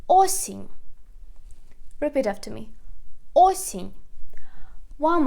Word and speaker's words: осінь: And the last word is autumn or fall, is осінь. Осінь. We put the stress again on the first syllable. Осінь. Repeat after me. Осінь. One more time. Зима. Весна. Літо. Осінь.